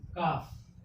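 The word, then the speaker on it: calf: एल आएगा तब वह साइलेंट होगा, यानी उसका उच्चारण नहीं होना चाहिए। जैसे मान लीजिए लिखा है यहाँ पे काफ।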